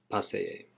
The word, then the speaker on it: paseé: El año pasado paseé. And when you've got two vowels together in Spanish, you pronounce them both.